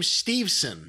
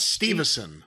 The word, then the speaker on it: Steveson: did i miss anything i think they're pronouncing his name steveson not stevenson steven steveson steveson oh